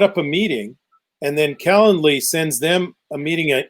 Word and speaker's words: Calendly: this little link called calendly it's like calendar with an ly at the end calendar can you imagine